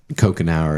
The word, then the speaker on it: Couchenour: Um, but Coke an hour is how you pronounce it. Spelled couch an hour.